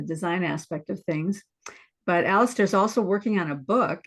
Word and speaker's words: Alastair: Am I pronouncing that right, Alastair?